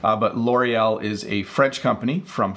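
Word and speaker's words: L'Oréal: I'll flip it so this is L'Oreal that's how we say it in English I'm sure that somewhat close to the proper French pronunciation but L'Oreal is a French company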